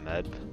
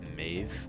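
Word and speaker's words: Maeve: Alright, and next up we have, I know the proper pronunciation isn't Meb, I think it's Mave, I think.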